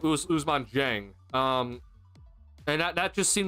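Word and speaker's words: Ousmane Dieng: It's not Gorgas. How do you say his name? Usman Jang.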